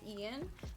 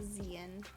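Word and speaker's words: Xeian: if i say this my brother's name is ian but it's spelled with an x it's x-e-i-a-n which is just the most ridiculous thing in the world but it's i mean people will look at it and say like zian and stuff but it's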